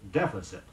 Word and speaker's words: deficit: mounted the dais with vigorous stride the preferred pronunciation of de F I see IT in American English is deficit say there was a deficit in his accounts